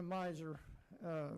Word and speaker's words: miser: I have been a miser, rhymes with Kaiser actually.